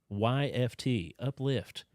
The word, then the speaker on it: Uplyft: It's spelled UPLYFT. Uplift.